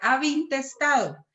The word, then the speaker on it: ab intestato: Solo que la pronunciación de las es ab intestado.